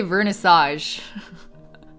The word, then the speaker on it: vernissage: Vernissage? I'm just gonna say vernissage. We're Americanizing it. Vernissage? Vernissage? Vernissage? Really? Okay, we'll say vernissage because apparently that's the Americanization of it.